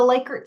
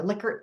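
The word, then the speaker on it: Likert: Uh there are variety of different ways to do the liyker scale or lickert scale depending how you your preference for pronouncing it.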